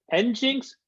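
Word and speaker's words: nginx: survey is how do we pronounce is it engins or engine x i I don't have a I'm not a web guy I don't know pronoun Jupiter it's engine engine X okay there we go see we're learning something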